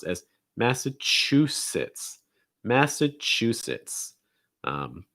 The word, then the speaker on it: Massachusetts: sir massachusetts massachusetts massachusetts and you're going to stress the chew that's the syllable distress massachusetts after that we have